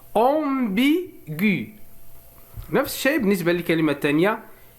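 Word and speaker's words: ambiguë: ولكننا إذا وضعنا لو تريما هنا إذن سوف نسمع صوت U، سيصبح ambigu.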